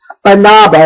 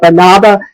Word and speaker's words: Banaba: Banaba, and I might not be saying that. It looks more like banana to me, but it's spelled B-A-N-A-B-A.